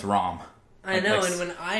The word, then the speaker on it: Ram: I always said it Ram because that's how it's spelled. And when I watched it in Japanese, I just figured like it was a pronunciation thing because of the language barrier. So I just kept saying Ram. But no, it's Rom.